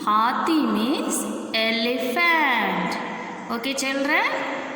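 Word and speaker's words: हाथी: How to pronounce this word? Ha ti. Hathi. Hathi means elephant.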